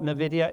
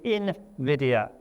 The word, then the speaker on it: Nvidia: That is how you say Nvidia. It is not Nvidia. It is Invidia.